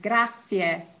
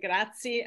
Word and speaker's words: grazie: Prego is just, I put four syllables because a lot of Americans say grazie, I don't know why, but probably because they haven't studied Italian, and but you always want to have the four syllables, grazie, and then you'll sound very Italian.